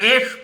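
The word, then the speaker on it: Æ: फिर मैं कह रहा हूं, X एक अननोन वेरिएबल है, AE को वो एश प्रोनाउंस करते हैं।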